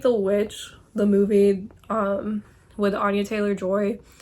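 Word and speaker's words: The VVitch: It's like The Witch, the movie with Anya Taylor-Joy, that's spelled with 2 V's instead of a W, so a lot of people say The Witch.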